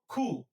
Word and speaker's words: চক্ষু: এরপরে এরপরে যেটা আছে চ কিন্তু উচ্চারণ হবে কি চো তাহলে হবে কি চোখ চক্ষু চক্ষু চক্ষু চক্ষুসমান সথে